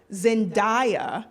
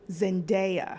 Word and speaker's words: Zendaya: we're here It's like how people say Zendaya when it's Yeah. actually Zendaya. Okay. It's not Zendaya, guys.